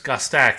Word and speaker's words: Gostak: Okay, so Oh no, it's Gustach, isn't it? Not Gast.